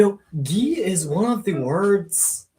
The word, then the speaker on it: gi: aaron like the karate oh you pronounce it as g-e-e really you know gi is one of the